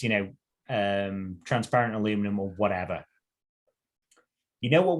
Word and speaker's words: aluminum: say aluminum rather than aluminium so um i've had to pronounce it the wrong way to begin with um but what would really bother me wrong the original pronunciation was aluminum sorry carryout but what would